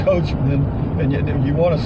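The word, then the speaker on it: Coachmen: a coachman CoH Co ACH em en it's pronounced coachman and you want to say ma in but it's m en coachman clipper cadet 16 C FB FB means front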